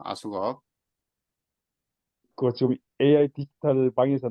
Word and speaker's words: AskUp: 아까 설명드렸을 때 아숙업이라고 발음한다 그랬죠. 아숙업.